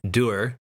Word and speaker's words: Duhr: French ancestry helped him settle on doer as the second word since der is French for hard so it is based